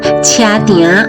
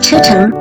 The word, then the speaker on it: 車埕: In Taiwanese, "Tiânn" means "yard," which is why it’s called "Tshia-tiânn." In Mandarin, it’s pronounced "Checheng."